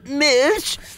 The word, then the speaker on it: Milch: milk right milch no it's German for milk no okay sure milch milk milch you have to pronounce it like that whenever it comes up